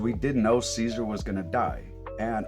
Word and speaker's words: Caesar: Sorry, you guys might hear me go back and forth between Kaizar and Caesar. Like I say Caesar the the show always pronounced that Kaisar is is starting to take root.